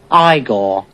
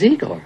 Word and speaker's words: Igor: I see you must be eor now it's pronounced igore but they told me it was eigor well they were wrong then weren't they uh